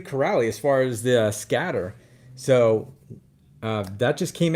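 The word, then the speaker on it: Sketer: t e r so scatter that's the way they say it i'm like doesn't sound the way it is but okay we'll go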